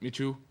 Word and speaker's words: Michell: Ibbsy's made a mountain of runs along with Luke Mitchell. They both scored 50s last weekend, so really have come along well. And we pronounce that surname again. It is Mitchell. Yep. Even though it's spelt Michell.